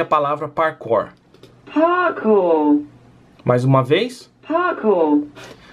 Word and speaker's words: parkour: sair de mim, mas a palavra se pronuncia parkour, e pelo que eu ouvi aqui, é bem parecido da maneira que eu pronunciei no vídeo.